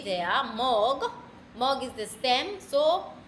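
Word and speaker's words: mög: stem as M O with a nout you pronounce it as mo. Yeah. O with a nout and g there mog.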